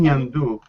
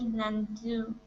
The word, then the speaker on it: ñandú: So one way we can trick ourselves to pronounce it is if we think of saying the letters N and then the Y and the A. So that's not the correct